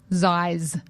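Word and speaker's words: Xyz: So letters X, Y, Z, Yeah. pronounced Ziz. God. Zais.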